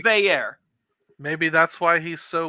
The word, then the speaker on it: Veilleux: how you doing sir he wants it pronounced Veer and not Vu he clarified it today